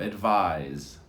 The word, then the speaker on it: advise: is a verb and of course you can hear the difference advice advise there's a z on the verb advise advise let's try it advice